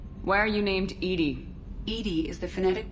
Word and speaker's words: EDI: a specific inquiry why are you named ed ed is the phonetic pronunciation of Ed I that is an acronym for enhanced defense intelligence how are you getting along with Joker mr.